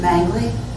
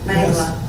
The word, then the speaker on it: Mengele: Can I ask you, you're saying Joseph who? Mangley? Mengele? Mengele. I say it wrong.